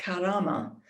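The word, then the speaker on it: كرامة: outside the english-speaking world the arabic world which i think is pronounced something like karama and is conventionally translated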